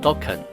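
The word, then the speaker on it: Dokk1: Dawkan locally pronounced Dawan.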